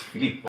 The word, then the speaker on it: Philippe: name is Phil with an F, and people are like, "Oh, Phil," but it's Philippe.